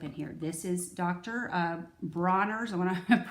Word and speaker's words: Dr. Bronner's: Bronner's I want to pronounce his name righty they called him dr. Bonners when I made my video on the bathroom so it's dr. Bronner this is castile soap